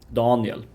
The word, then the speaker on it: Daniel: on the first syllable daniel which is not how it's pronounced in like standard swedish um standard swedish has a much more even stress on both syllables don yeah but in